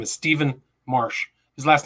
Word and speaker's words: Marche: a very special guest his name is stephen marsh his last name is spelled m-a-r-c-h-e he's just published a book january